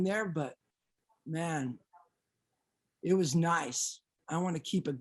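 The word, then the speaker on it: Niise: One is Nice, but they spell it N-I-I-S-E.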